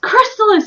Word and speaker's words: Crystalis: make it happen you can do it it's pronounced Crystalis you idiot screamed Barry double exclamation point Sorry